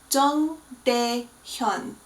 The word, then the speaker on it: Jung Dae-hyun: Now, his name contains two of those weird characters where it's not an ah and it's not an O, it's an O, pronounced way back in the back of your throat. So Jung and Hyun both have those sounds.